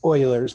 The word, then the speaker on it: Euler: since that's a uh it's actually pronounced euler's method oh oil they're sorry